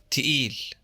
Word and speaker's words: تقيل: In older words native to the dialect, they're pronounced t and d. The word for heavy, thaqil, becomes تقيل.